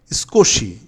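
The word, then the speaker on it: 少し: স্কোশি উচ্চারণ হবে স্কোশি, মানে সুকোশি মানে স্কোশি মানে অনেকগুলো, স্কোশি মানে অল্প, এটা অনেকগুলো হবে না।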